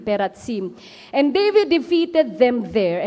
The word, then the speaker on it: Perazim: Pero Peratsim, ang mamaya explain natin ang pagka-pronounce, hindi Perazim, Peratsim.